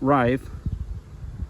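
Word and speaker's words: Reiff: This is the Reef Knives, or some people pronounces it Reif, F6 in Magna Cut.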